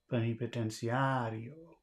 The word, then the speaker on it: plenipotenciario: It's on cia. No, it's on ario. Plenipotenciario.